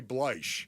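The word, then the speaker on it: Bleich: You say Bleach. Bleach. Okay. You're saying that, you know, that's how you pronounce it.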